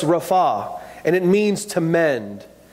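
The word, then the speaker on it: רפא: you know the Hebrew word for heal is pronounced Rafa and it means to mend to make whole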